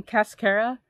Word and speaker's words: cascara: And the way I was able to remember this is by the name cascara rhymes with mascara, and like the leaf veins, if you see the leaf veins or the details, they kind of look like eyelashes.